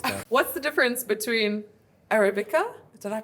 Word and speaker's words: Arabica: What's the difference between Arabica? Did I pronounce it right?